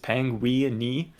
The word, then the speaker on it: Penguini: And a lot of people like pronounce Penguini wrong when they first read it. And so I was like, if I just make it so it's exactly how it sounds, it's the perfect pronunciation, just Penguini, everyone's gonna get it.